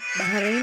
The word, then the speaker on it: Bahrain: Bahrain ang bigkas ko kasi ito ay galing sa word na bahar.